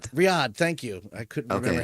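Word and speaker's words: Riyadh: Riad. Thank you. I couldn't remember how to pronounce the name.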